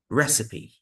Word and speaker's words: recipe: cupet cupet d d recipe recipe three syllables Wednesday Wednesday doubt doubt